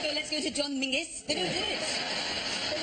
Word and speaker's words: Menzies: In fact, you should pronounce it John Mingus. Apparently, it's to do with a defunct Scottish letter Zog.